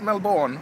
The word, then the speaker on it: Melbourne: now dwelling here in Melbourne Australia that is how you pronounce it Melbourne I know cuz I'm English and this is the Queen's language thank you very much